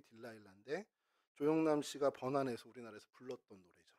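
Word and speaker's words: Delilah: 그랬더니 이게 영어식 발음이라고 들릴라의 영어식 발음이 딜라일라 조용남 씨가 번에서 우리나라에서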